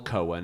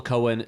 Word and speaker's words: Cohen: Yes, a guy named Joel Cohen, who is Yeah. clearly not... okay, the Coen brothers, their name is spelled C-O-E-N. This is Joel Cohen, C-O-H-E-N. Oh, Cohen.